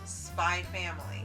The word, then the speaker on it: Spy x Family: the manga, says that it's stylized as Spy X Family, but it's pronounced Spy Family.